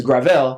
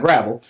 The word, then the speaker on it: Gravel: getting on to me by pron pronouncing his name wrong his name is grael not gravel um he's doing better